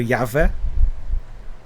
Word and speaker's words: Yahweh: Yahweh, Yahweh, Yahweh. The pronunciation varies. International convention usually goes for Yahweh.